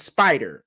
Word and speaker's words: Sp5der: a clothing line and it's Spider, right? There's a clothing line Spider, but it's spelled SP5DER, right?